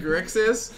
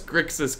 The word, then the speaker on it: Grixis: This guy's trouble saying Grixis. I mean, now we're talking like Thyrix6. I can pronounce Grixis correctly. Okay, no, I got I just choose to pronounce it Grissix.